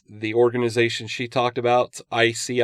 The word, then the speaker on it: ISEAI: Fox last week, and the organization she talked about, ICI, and that's spelled ISEAI.